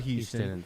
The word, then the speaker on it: Houston: city hu uh H they have a street out there which is spelled Houston these call it house right right that's what